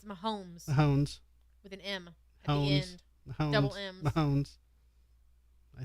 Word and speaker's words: Mahomes: like I know Sports say his name again Mahones it's Mahomes hones with an Mounds